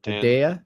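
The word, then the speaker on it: Hedaya: actors in in the film is uh Dan Hadia. Is that how you say his name? Dan uh Hidea.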